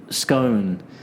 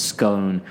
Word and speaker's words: scone: With scone, there's a debate in England about how it's pronounced. Some people say it's scone, some people say it's scone.